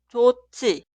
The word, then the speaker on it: 좋지: Por eso la primera frase escribimos así, pero leemos 좋지, 좋지, 좋지. Y siguiente se escribe así, pero se pronuncia 많지, 많지, 많지.